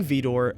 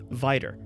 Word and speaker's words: Vidor: the pronunciation gets a little confusing but King VOR always pronounced his last name VOR not vider but either way that lumbering Community was named